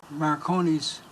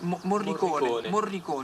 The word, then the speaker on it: Morricone: I think that Marconi's music, did I pronounce his name right? Yes, Morricone.